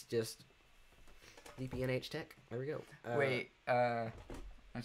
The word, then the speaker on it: DPNH Tech: It's just DPNH Tech.